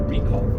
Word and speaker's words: recall: here in this context, it's a recall, right? So the accent is on the first syllable of recall, Right.